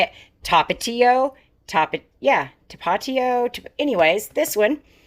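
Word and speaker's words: Tapatío: Tapatio Yeah, Tapatio Anyways, this one.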